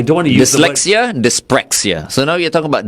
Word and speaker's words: dyspraxia: There is dyslexia and there is is it pronounced Dyspraxia. Dyspraxia.